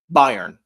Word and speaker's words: Bayern: It's Is it Burn? Am I saying it wrong? Bayern. Bayern. Bayern Munich. Bayern Munich. Excuse me. I was pronouncing it wrong.